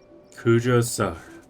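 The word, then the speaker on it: Kujou Sara: Kujo-Sara. That's how you pronounce it.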